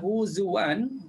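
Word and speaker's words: هزوا: Terunya kalimah huzuan. Kalimah huzuan pun sama ya. Mana-mana tempat. Mana-mana tempat dibaca menukarkan hamzah jadi um, sorry menetapkan ham, hamzah pada huruf waw. Huzuan bacanya huzua, huzua. Okey.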